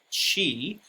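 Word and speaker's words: qi: that's the pinyin romanization when it's spelled c h i that's the old way giles romanization either way it's pronounced she it means breath energy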